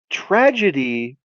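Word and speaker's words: tragedeigh: Um, it's tragedy. And here's the here's the whole theme of it. It's spelled see if I don't remember exactly how it's spelled. It's like t r a g e d e i g h. Tragedy.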